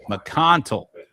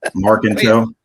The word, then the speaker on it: Marconte: We're talking about James Powell, Burley Gunter, and Mark McCantel. How you say that? Am I saying it right? No. No. Markintel.